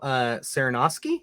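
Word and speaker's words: Sarnoski: Michael Saranoski is how you say his name.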